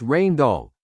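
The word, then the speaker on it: Rijndael: After years of testing and analysis, an algorithm called Rain Doll, pronounced Rain Doll, created by two Belgian cryptographers, was chosen and became AES.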